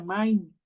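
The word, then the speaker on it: מים: En hebreo se pronuncia main, y el Señor pues no creó del mar, sino de las aguas, ¿no?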